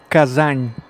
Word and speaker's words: Kazan: of kazan in russia we pronounce as kazan kazan softly and softly kazan here is a moscow